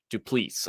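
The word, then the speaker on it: Du Plessis: Brunson versus driskus duplicis du please I believe it's pronounced yes I actually know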